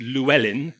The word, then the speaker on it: Llewellyn: remember and pronounced at the last name is Welsh it's conventionally pronounced Llewellyn in England and I'm a product